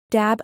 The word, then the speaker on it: dab: For example, dab, a spirit, is pronounced da. The final B indicates the tone, in this case high and level.